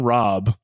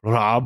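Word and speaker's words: Rabe: Now, Rob was elected the, I know it's pronounced like Rob or something like that, but I'm not going to try to pronounce the German R's.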